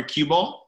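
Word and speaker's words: Qubole: pretty panochas and thank you to our partner cueball you can check them out at cube all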